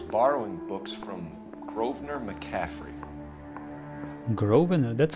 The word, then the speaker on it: Grosvenor: Grosvenor, that's how it's pronounced, not Grosvenor.